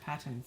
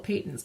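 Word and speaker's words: Patons: Not Pattons. Yeah, apparently there would be 2 T's if it was, and that's, I took linguistics all fine. in university, and I kind of always thought, well, Peyton's, because a short A would have another consonant after it, but whatever. Ugh. So say it however the hell you want, but I'm going to keep saying Peyton's and feel okay about it.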